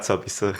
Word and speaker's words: 서비스: we got sobisu. For our American audience, 서비스, of course, is a Korean pronunciation of the English word service.